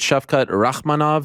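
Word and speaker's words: Shavkat Rakhmonov: pronouncing his name the right way is it chef cut rachmanav is that the right way to pronounce it yes okay i just you know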